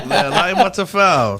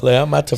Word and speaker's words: Le'Amatefal: I always wanted to be around Loto, and we got my man Loto Le'Amatefal, right? How do you say your name? You almost got it. I almost got it. Yeah, Le'Amatefal. Le'Amatefal. So you're about 80% Samoan now.